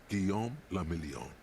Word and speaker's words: Guillaume Lamillion: meant only one thing guillaume lamillion if it doesn't rhyme you're not pronouncing it right out of the dazzling